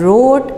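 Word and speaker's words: wrote: की तरफ आई एंड रोट a letter. Right की second form रोट, right, रोट, रिटन। W silent है, W silent है, खामोश है, W की आवाज़ नहीं आएगी, सिर्फ W लिखा जाएगा।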